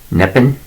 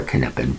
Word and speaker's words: Neppen: Martin Nordrum Neppen. Okay, let me get that right. Martin Nordrum Neppen, or Kneppen, if you want to pronounce the K. I don't, because I'm English.